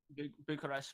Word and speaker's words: Bucharest: Am I pronouncing that right? Bucharest Major.